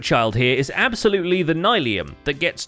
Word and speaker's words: nylium: It might be Nylium. The block's called Nylium, pronounce it right, Liam.